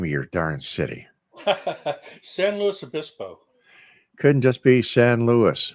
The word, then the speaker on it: San Luis Obispo: They're very particular about the pronunciation there. It's San Luis Obispo. San Luis Obispo.